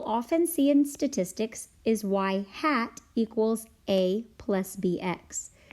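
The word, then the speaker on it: ŷ: see in statistics is y hat equals a plus BX the little up arrow above the Y is pronounced Y hat and it means predicted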